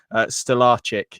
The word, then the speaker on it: Stolarczyk: Stellaric. Yes, that is right. I think that is the pronunciation that someone said to me. Actually, that does sound right.